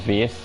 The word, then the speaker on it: Vers: you know, Carol Danvers, but they pronounced it as Veers, and that's how she got her name.